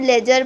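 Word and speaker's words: ledger: नाम होते हैं लेजर देखो कैसे स्पेलिंग है ल ए दी जिसमें जो हमारा वर्ल्ड दी है ना बच्चा यह जो दी है ये हमारा साइलेंट होता है इसको हम लेजर पढ़ने हैं ठीक है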